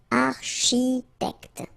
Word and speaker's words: architecte: Same thing here, liaison, okay? Un architecte, alright? And then C-H, architecte, alright?